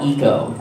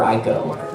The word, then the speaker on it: ICO: pronunciation of this, was a game called Ico, or Ico, whichever, however you want to say it is both right.